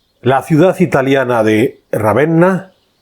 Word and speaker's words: Ravenna: La ciudad italiana de Ravenna, Ravena, si lo pronunciamos en español, es mundialmente conocida por